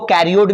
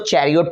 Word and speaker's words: chariot: कोई स्टूडेंट देखोगे इसको कैरियोट भी बोल सकता है, लेकिन इसको चैरियोट प्रोनाउंसिएशन होगा।